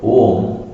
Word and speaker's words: Om: If you dissect, if you put it on a table and dissect, you will get three syllables. A, U, Ma. A plus U, it becomes O. It's known as Samyuktakshara, the conjugation. The conjugation becomes A plus U is O. Again add M, Om. A, U, Ma. The three syllables together make up the word Om.